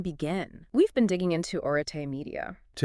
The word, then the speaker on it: Arete: So just starting with the name Areete, pronounced Arite, by the way.